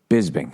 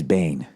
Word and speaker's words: Bisping: Michael Bisping. I always thought it was Bisbane.